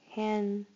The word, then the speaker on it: handed: Handed. Handed. Handed. Notice it seems to have an id syllable at the end.